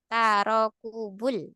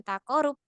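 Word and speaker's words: تراكب: itu sejajar kita katakan tarokubul Ya bukan taqarub tapi tarokubul harakatain Kemudian pada keadaan huruf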